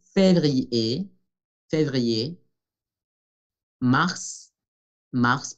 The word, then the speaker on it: février: Palabra que nos hace recordar que ER es E, février, février, mars, mars, pronunciamos